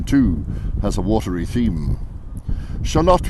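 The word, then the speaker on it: Shalott: has a watery theme shalot we think is a location invented by Teton for its assonance and rhyme with camel lot also a mythical Place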